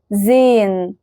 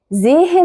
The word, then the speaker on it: sehen: زي verb sehen sehen gehen gehen. هل سمعتوا نطق الها كده واضحة وصريحة؟ لا، بس حسينا ان ليها تأثير على اللي قبلها. فما ينفعش تقول زيهن، ما ينفعش تقول جيهن.